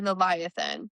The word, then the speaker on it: Leviathan: Camila's like trying to get Eny to come too and she's like calling him Leviathan or Levi Ean or Levi Ethan or whatever the hell. Audio book confirmed it is definitely Leviathan.